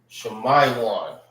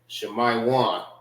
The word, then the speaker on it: Shemaiwan: Shemaiwan. All right. That's how you say Simeon in the Hebrew. Shemaiwan.